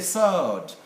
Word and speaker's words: sword: should be silent and in a few cases like this one it's not a sword sword no it's a sword sword and then american